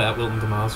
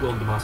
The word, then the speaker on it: Wilton Dumais: Also, it's not Wilton Dumais, it's Wilton Dumais. Follow me for nothing. Well, Liam, I think it's pretentious when people use the French pronunciation when you are not French, so I'm going to call it Wilton Dumais.